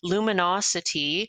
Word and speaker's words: LuminoCity: It was formerly known as Radio Lumi, and it's now called LuminoCity, but spelled with a C. So it's one of those camel case constructed words where LUMINO, then cap CITY, sort of to emphasize the city part of luminosity.